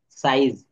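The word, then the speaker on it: size: রাই is, wise, সাইজ।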